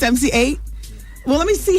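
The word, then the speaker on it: MC Eiht: Oh, his name's not MCI? It's MC8?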